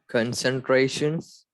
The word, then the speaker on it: concentrations: And what is the soft C rule again? You are When C is followed by E, it says the S sound, which is why this word has a hard K, a hard C, and a soft C sound.